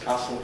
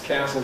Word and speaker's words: castle: Bath math maths castle tussle t gas. And of course in American English they also rhyme. Bath maths castle tassel pass gas.